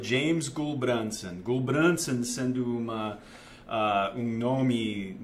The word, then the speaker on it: Gulbrandsen: nome completo e James gulbransson Gol branco estando uma a o nome norueguês meu o meu avô a era norueguês então meu meu pai pronuncia de uma forma diferente porque o o primeiro